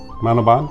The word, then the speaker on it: Manoban: How do you pronounce her name again? Mrs. Manoban?